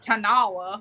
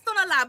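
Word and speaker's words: Tonalá: talking about how everybody's like the Tonala, and how people say it, but it's like Tonala. Tonala. Yeah. Yes. Yeah. It's not Tanala. That's Right. when you talk about Tonala. Tanala. That's Right. it's Tonala, but I mean, people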